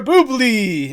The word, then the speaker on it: Boubli: Boubli or Boubli.